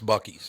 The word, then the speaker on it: Buc-ee's: No, it's actually, is it Buc-ee's or Busey's? It's Buc-ee's, yeah.